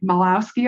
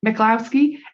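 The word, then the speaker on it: Michalowicz: Mike I can never say his name right meowski I think m I or melowski m i c h a l o w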